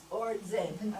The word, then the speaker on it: Aurangzeb: out are Jahangir and Aurangzeb. Aurangzeb. Aurangzeb. Punjabi pronunciation.